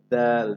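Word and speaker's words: دال: এরপর আছে দাল। দালটা শক্ত, শক্ত আওয়াজে তবে পাতলা করে আপনি উচ্চারণ করতে হবে।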